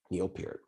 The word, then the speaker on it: Neil Peart: lot of people but it's definitely for sure neopet because i know people who who have known